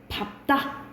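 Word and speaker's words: 밟다: 그런데 밥다 이거는 외우셔야 돼요. 이건 예외적으로 비읍으로 발음나요.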